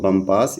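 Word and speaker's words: Bompas: तो आपको यह याद रखना चाहिए, सी एच सी एच पम्पास, यानी बम्पास। आपको इसका उच्चारण ध्यान से देखना चाहिए।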